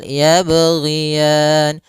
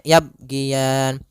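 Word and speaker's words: يَبْغِيَانِ: yaitu bacaan yang memantul maka kesalahan yang terjadi dalam membaca huruf qalqala yang pertama dia tidak memantulkannya misalnya yabgian n itu dia kurang tepat yang kedua menambahkan Hamzah ini kesalahan Juga misalnya yaban nah ini juga kesalahan yang seling terjadi atau dia putus yabanah harusnya dia tetap mengalir berjalan dan tidak boleh putus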